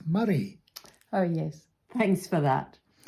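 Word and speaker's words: Moray: in the very beautiful county of mori it's murray oh yes thanks for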